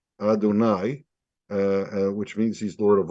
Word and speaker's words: Adonai: blessings and when articulated the name which we don't even pronounce you should have in mind the meaning of the name as it is pronounced Adonai which means he's Lord